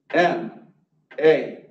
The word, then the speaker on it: NAICS: NAICS. Rhymes with snakes.